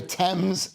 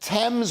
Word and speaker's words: Thames: It says a 1.6 million pounds a year Thames Thames, not Thames, water board blames it.